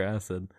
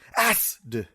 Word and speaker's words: AC!D: It's like It's like acid.